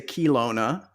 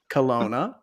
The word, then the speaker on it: Kelowna: Did I pronounce that correctly? Yep. Because I always want to say Kelowna, but it's Kelowna.